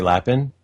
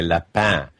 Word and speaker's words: Lapin: right when I say laughing you do okay very good well actually bark Liz you're corrected me on that because I always wanted to go french with it and say left path but it means rabbit